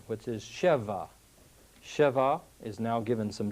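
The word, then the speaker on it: שֶׁבַע: comes originally from the word 7 which is Sheva Sheva is now given some different vowels and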